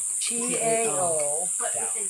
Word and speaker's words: Tao: T-A-O. T-A-O. But with a D. No, T. I know, You but say it it's with a D. pronounced Tao. It's pronounced with Kind a of D. a soft T.